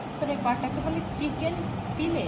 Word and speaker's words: fillet: পাটাকে বলে চিকেন ফিলে। FILLET লেখার সময় ফিলেট, উচ্চারণে ফিলে। এটা ফ্রেঞ্চ ওয়ার্ড।